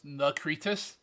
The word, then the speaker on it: Nakritis: Did you not use Necritus. Control F? That's what I do for most of mine. It is actually No. it's Nakritis. It's pronounced like Nakritis.